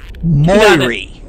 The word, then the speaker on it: Moirrey: Moirrey.